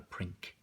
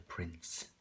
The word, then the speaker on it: prince: It's not a prink. He's a prince, because the E at the end makes the C soft.